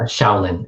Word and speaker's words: Shaolin: world right so i've i've heard of shaylin and cher is is that is that the correct pronunciation sure mandarin is a shaolin in cantonese it's which means young forest right shaolin um and